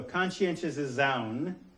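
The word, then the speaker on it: conscientização: So conscientious Zaun, which is how you pronounce that, okay, learning to perceive social, political, and economic contradictions and take action against the oppressive elements of reality.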